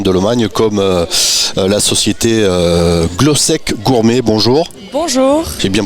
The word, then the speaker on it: Glosek: partenaires des florents de Lomagne comme la société glosc gourmet bonjour bonjour J'ai bien prononcé oui tout c'est Sandrine c'est ça c'est